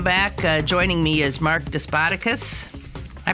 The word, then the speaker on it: Despotakis: Okay, but so the accent is on what? It's Despotakis. Despotakis. Yes.